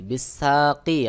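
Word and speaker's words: بساق: এখানে সহি উচ্চারণ হবে বিসাক, বিসাক।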